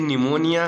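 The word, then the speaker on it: pneumonia: the world निमोनिया डे इसको आप इन harmonium मत पढ़िए का फ्रेंड्स यह निमोनिया है ठीक है नहीं तो इंग्लिश में बहुत सारे बच्चे जहां साइलेंट करना वर्तमान नहीं करते हैं तो हिंदी में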